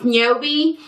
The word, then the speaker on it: Ynobe: company just different products i think it's pronounced nyobi and this is the pre-poo treatment it's like ebony backwards um yeah this is